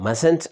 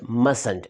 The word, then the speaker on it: mustn't: अगले से मैं पूछ रहा हूँ mustn't I? The short form of must not is mustn't, the pronunciation, note the pronunciation, mustn't, not mustn't, mustn't, M-U-S-T-N apostrophe T, mustn't।